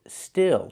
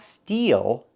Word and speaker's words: still: Pronunciation, still. Use the I sound like this is. Not steal, but still.